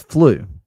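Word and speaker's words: Flø: Oh, it's flu. Flu. The FLOU, the O with the thing, with the slash is flu.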